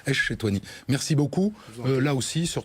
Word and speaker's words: Ech-Chetouani: Echetouani. Voilà, mais en fait, si on appuie sur Esh, c'est bon. Echetouani.